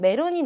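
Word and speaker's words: メロン: 그 다음 메론이 나왔는데요. 메론 마찬가지로 이라는 걸로 끝났기 때문에 길게 발음을 해주셔야 합니다.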